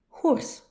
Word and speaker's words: Hors: The first one is Hors. No, not the animal. It is spelled H-O-R-S.